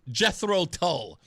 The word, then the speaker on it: Jethro Tull: Did I say I said I said Jeffro Tull I say it like that spawn I really don't say it like the like the like like the regular folks do.